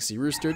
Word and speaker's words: Cyrus: It's spelled like Cyrus, pronounced like Seerooster. Just take out the tear.